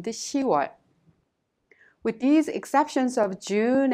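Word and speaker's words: 시월: It's not 10월, but it's 10월. It is much easier to pronounce 유월 and 10월.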